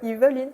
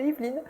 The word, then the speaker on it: Yveline: Ma grand-mère a dit qu'il fallait prononcer le E à la maternité. Donc, ma famille prononce le E, Yveline, au lieu de Yveline.